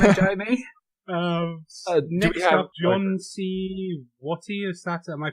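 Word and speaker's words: John C. Wathey: Next up, John C. Watty, is that? Am I pronouncing that correctly? John C. Wathy, yeah.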